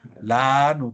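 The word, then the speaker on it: לָנוּ: Lanu, también con el acento ahí.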